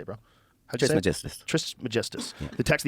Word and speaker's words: Trismegistus: Trismegistus.